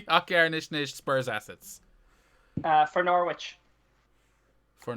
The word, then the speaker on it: Norwich: to pull you on it's not norwich i don't think you pronounce the w it's norwich s yeah exactly like there's been about